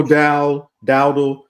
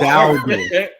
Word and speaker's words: Dowdle: Rico Dowdle, 13 carries, 23 yards. Herman. You have to be able to pronounce the Cowboy players' names correctly, okay? I always say his name wrong. So Come on. Dowdle.